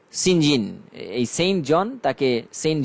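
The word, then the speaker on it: St John: Their names are Mary, Diana, and Saint John. Pronounced Sinjin.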